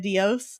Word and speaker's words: Dios: Yeah, I was saying doce instead of Dios, right? Because Dios is God, right?